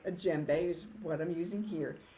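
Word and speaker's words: djembe: at home like a JBE is what I'm using here it's spelled d j m b e you don't pronounce the d you have to keep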